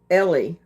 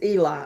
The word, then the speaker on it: Eli: Okay, I'm sorry, but here when it's spelled Eli, it's Ellie. But yours is Eli.